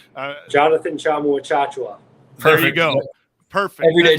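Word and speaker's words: Tchamwa Tchatchoua: The concern for Baylor now is they have another injury with the starter who lost, and I cannot pronounce his name. Jonathan Chamu-Achachua.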